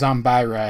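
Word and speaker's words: Zombyra: versions of the card game respectively here it's pronounced zombira and he gets the suffix the dark but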